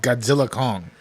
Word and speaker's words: Godzilla x Kong: the worst worst titles apparently the x is silent the x is no yeah it they just confirm this it's it's not called Godzilla X Kong it's just called Godzilla Kong Godzilla Kong the axe just is silent well I was I